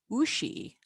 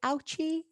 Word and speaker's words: Ouchy: born in 2016 and pronounced ushi from my fellow anglos who might be tempted to say ouchi the film festival takes